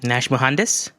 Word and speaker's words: Nash Muhandes: things well okay um my name is nash nash mohandas in case you guys are wondering how that's pronounced uh i'm uh uh